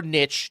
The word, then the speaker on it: niche: problem but it was a niche or Niche depending on how you want to pronounce it they say the riches are in the niches I say Niche but you can say Niche I digress find a